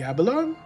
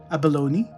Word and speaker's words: abalone: The abalon. Yeah, the abalon. I need to look up like how that's that's pronounced. I'm probably mispronouncing pronunciation. Abalone.